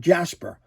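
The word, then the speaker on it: Djas Puhr: And in some circles, they call him Jasper. They do not pronounce the D. They just go the Jas and the Puhr and call him Jasper. So I don't know. I've always called him Dejaz Pure, but in some circles,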